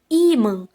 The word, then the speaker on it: ímã: Ímã. Qual é a sílaba tônica aí? A penúltima sílaba. É o I, né, gente?